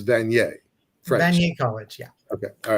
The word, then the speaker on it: Vanier: in your uh uh School how do you pronounce the school it's vaniere College yeah okay all right um Stephen Cohen